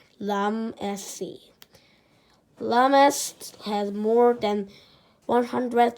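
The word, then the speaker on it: Ramses: You say it like this, Lamesi.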